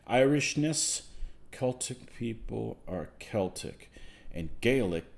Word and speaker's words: Celtic: And nobody breaks them, Rick, the Glasgow football team is Celtic. Irishness, Celtic people are Celtic. And Gaelic, the C is pronounced hard as K.